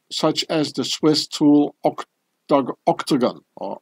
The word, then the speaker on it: Octogon: as the Swiss tool Octogon or Octogon. And here as well. Yeah, the Octogon. I don't pronounce it the English way, so that you know, yeah.